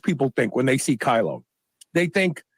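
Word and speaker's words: Kailo: Biz go kylo and kylo is spelled k-a-i-l-o use the code shr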